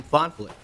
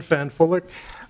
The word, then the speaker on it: Fanfulik: MARL Board Chair, Fonflick. Bill is a little nervous. I'll give you the correct pronunciation of my Czech name. Okay. My name is Fanfulik.